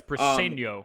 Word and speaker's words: Briceño: Yeah, it's Briceño.